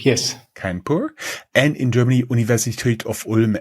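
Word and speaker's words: Kharagpur: India Institute of Technology in how is it pronounced kpur kpur yes kpur and in Germany University of and as all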